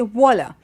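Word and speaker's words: voilà: wow wonderful you say voila and it's got v/o i la it's just the same way as you say wow and only the French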